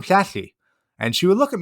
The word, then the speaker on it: Llanelli: So when I first heard this name, I try to pronounce it, Lanelli, and she just looks at me like, oh my goodness, these Yanks are horrible. Well, it took me most of a school year to learn how to say the double L. And eventually I could say to her, oh yeah, you're from Flashy.